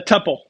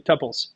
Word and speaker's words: tuple: It's called a tuple.